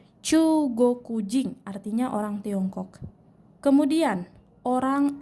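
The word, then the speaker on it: 中国人: Jepang adalah chuugokujin chuugokujin disini punya ada dua dibaca panjang chuugokujin artinya orang Tiongkok kemudian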